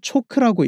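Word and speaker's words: CHoCH: 초크는 체인지 오브 캐릭터의 줄인말로 추세의 성격이 바뀌기 시작한다는 의미로 보통 초크라고 읽습니다.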